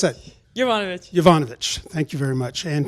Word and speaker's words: Jovanovic: Pronounce that. Jovanovic.